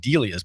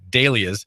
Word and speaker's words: Dahlia's: I've been saying Delia's, but it's actually Dahlia's. I was corrected by a caller who said, hey, we heard about Maria, and her mom's name is correctly pronounced with an A, not an E.